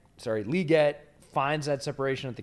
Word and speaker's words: Legette: the off the release or at the break Legette sorry liette finds that separation at the catch Point um